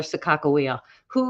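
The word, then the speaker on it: Sakakawea: with the mandans and in the Mandan language there isn't a a soft G sound so they wouldn't have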